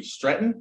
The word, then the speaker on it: Streten: very pleased to have stratton is that how you say your last name stratton i i usually ask my guest beforehand i'll pronounce their last name so i'm glad i got this one right um how are